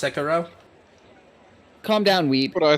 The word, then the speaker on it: Sekiro: pronounced Sekiro?